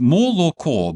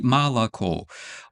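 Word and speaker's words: молоко: Uh we write moco but we say malaco.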